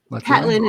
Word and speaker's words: Patlan: Patlan. It's similar to Mazatlan.